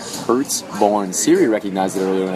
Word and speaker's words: Pertzborn: do you say your last name again bro hertzborne hurts born Siri recognized it earlier when I said